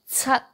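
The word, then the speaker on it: 七: Okay, and for 7, C-A-T, chut,Tut. So that the C at the beginning, so actually it's pronounced t. So you put your tongue in between the upper teeth and lower teeth. Tut. Tut. And don't pronounce tut. No t at the end.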